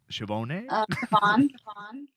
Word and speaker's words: Shvonne: with your last name is it Bridget siobhone chevone okay just like it's okay like a spell it's not my last